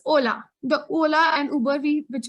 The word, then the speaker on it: hola: end of the word h is always and always silent so it is ola it is not hola it's hola yeah ola